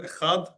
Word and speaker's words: echad: Echad being the Hebrew number name for the number one. Echad. There's the first piece of Hebrew. Echad, one.